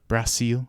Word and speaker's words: Brasil: Brasil, I think is how you pronounce it. Is that right? Yeah, that's the only correct way of pronouncing the name Right. of the country.